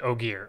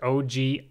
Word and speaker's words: Ogier: drives i've created a folder named oh gear oh gee it's spelled o g i e r that's the name of